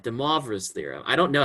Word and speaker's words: de Moivre: De Moivre's theorem. I don't know how to pronounce it.